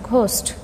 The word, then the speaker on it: ghost: silent letter next one ghost ghost ghost so in this word h is silent letter next num num num